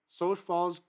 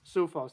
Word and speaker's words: Sioux Falls: Sioux Falls, South Dakota, and our friends Sioux Falls. Sioux Falls.